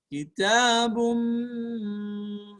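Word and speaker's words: كتابٌ: Ketika tanwin bertemu dengan mim, namanya adalah idgham bi gunnah. Kitabum, ada dengung setara dua harokat.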